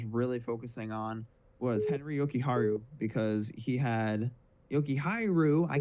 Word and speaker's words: Jokiharju: that I was really focusing on was Henry Jokiharju because he had Jokiharju. I can't ever say his name properly. No, you said it right the first time, Jokiharju.